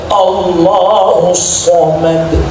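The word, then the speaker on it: اللَّهُ الصَّمَدُ: Qul huallahu ahad. Allahus somad. Itu sh jangan tsa.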